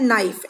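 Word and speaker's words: knife: सिर्फ के लिखा है तो ये लिख रहे हैं, बोल नहीं रहे हैं, मतलब कि के साइलेंट है, ये चुप है. साइलेंट का मतलब होता है चुप रहना, तो के चुप है, सिर्फ उसको लिख रहे हैं पर वो बोल नहीं रहा है. ठीक है, हम बोल रहे हैं नाइफ.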